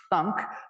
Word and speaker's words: thunk: And then a collection of morphisms, which are pronounced thunk, which you can think of as sending a value to the trivial kind of computation that does nothing on that value.